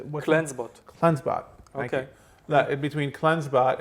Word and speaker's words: CleanseBot: CleanseBot.